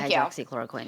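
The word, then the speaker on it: hydroxychloroquine: How do you know how to pronounce that? I just uh hydroxychloricquin. Hydroxychloroquin.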